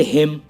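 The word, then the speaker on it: hymn: और ऐसे ही और एग्जाम्पल हैं, जैसे हिम, ऑटम, डैम और कंडेम। इन सब में एम के बाद एन आया हुआ है तो एन साइलेंट है।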